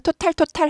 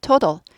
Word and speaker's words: total: 그래서 이제 한국말로는 total 하는데 아니고 total. 앞에 to는 액센트가 있어서 약화되지 않아요. 뒤에 t는 똑같은 t인데 뒤에 t는 약화돼요. 발음이. 그래서 total 하지 않고 total 해서 t 발음이 드 발음까지 약화됩니다.